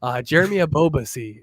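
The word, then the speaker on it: Jeremy Ebobisse: Jeremy Abobasi is how you pronounce it there, Cap.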